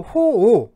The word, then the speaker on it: 호오: 또 호오, 뭐 이제 좋아하고 싫어하는 거. 자, 오자가 보면은 그 악자하고 같죠. 그래서 이게 악하다. 그러니까 선악할 때 악하다의 뜻일 때는 악이라고 읽고요. 또 싫어한다라는 뜻일 때는 오라고 읽습니다.